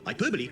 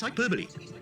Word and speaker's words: hyperbole: An epigram, hyperbole, or simile? Hyperbol. The correct answer is hyperbole. How many syllables are there in a haiku?